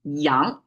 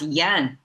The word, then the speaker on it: 阳: That's yan. Yang. Okay, let me just pronounce it Chinese way.